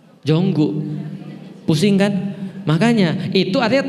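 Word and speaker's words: Jungkook: Contoh Jungkok BTS itu kan tulisannya jungkok. Bacanya apa? Bukan jungkok, jonggu, pusing kan?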